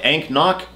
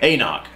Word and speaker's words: AnCnoc: test dummies we got anoch 12 boom looks like ank knock yeah but they tell you how to pronounce it right on the can anoch anoch Let's test it test